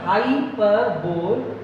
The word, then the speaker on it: hyperbole: हाइपरबोल pronounced hyperbole is a highly exaggerated statement.